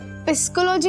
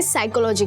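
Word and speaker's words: psychology: किट्टू, वो पिस्कोलॉजी नहीं होता है, पी साइलेंट होता है। इसे साइकोलॉजी कहते हैं।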